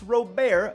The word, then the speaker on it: Robert: even this dude luis robert again i call him robert because that's how he says it's pronounced but a lot of